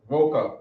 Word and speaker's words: boca: Well, that's a short V though. Boca. Is with a V? Yeah. I don't People think know, it's man. also I a don't big- know. No, it's V. It's It's V. Boca. Voca, because that's where that's probably where the word vocal comes from. Huh. Okay, voca.